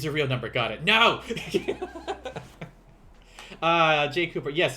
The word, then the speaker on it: yen: real number got it no uh jay cooper yes yen is the currency uh however they in japan uh japanese they will pronounce it as n and that over there